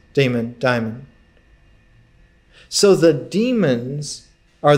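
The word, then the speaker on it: daimon: in the Paleolithic is called Diamond demon d-a-i-m-o-n pronounced demon diamond so the demons are the gods of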